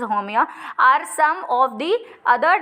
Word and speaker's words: Haumea: Sirsa, iris, होमिया, I think pronunciation is the same, which is Haumea, are some of the other dwarf planets।